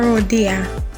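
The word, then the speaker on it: rodilla: word for me la rodia when there are two ls in a word it is pronounced as y la sangre is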